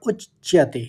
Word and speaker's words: उच्चते: और फिर स और उच्चते उच्चते दो बार च का उच्चारण होगा तो क्योंकि आघात है उच्चते तो इस तरह से पढ़ेंगे